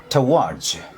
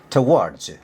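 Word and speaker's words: towards: यसको यसको उच्चारण हुन्छ टवार्ज कसो रे टवार्ज यसलाई टु भनिदैन है यो ट ओ डब्लु ए आर डी एस मा आउने ट ओलाई टु भनिदैन ट भनिन्छ। टवर्ड्स कसैले टुवर्ड्स भन्छन त्यो नेपाली लभज पट्टिको इङलिस गयो।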